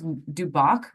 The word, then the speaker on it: Duboc: Am I saying those Duboc? Is that right? Yeah, that's it, Duboc. Okay. That's French pronunciation. Yeah. Well, I guess the French pronunciation might be Duboc, but Right.